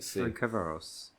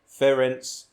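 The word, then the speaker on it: Ferencváros: And how do you need the phonetic pronunciation. I'm going to try and do it. Their name. Is it Ferencvaros?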